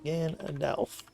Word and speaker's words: Gandalf: Gandalf. Yeah, that's how you pronounce that. I used to want to spell it with an O, but it's an A. Alpha, not Oscar.